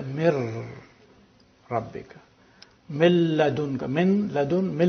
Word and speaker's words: min rabbika: So you don't pronounce min rabbika, you say mir rabbika.